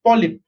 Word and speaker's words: polyp: If it is cylindrical in shape, then it is called as polyp. How do you pronounce this? P-O is po, L-Y is lie, P is p.